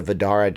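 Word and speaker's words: Vdara: to look up something fun look up the vadara death ray the vedara is one of the properties and resorts over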